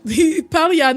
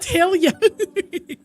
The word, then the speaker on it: Palia: It's actually pronounced Palia, not Helia.